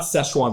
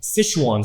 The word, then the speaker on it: Sichuan: So one of their sauces, I'm going to pronounce this wrong, but it's not Szechuan, but Sichuan sauce was in this.